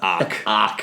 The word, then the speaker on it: ARQ: of our episodes um how do you say the title again cuz I don't want to screw this up AR okay good it's spelled a arq just in case you wanted to know Robbie is the lead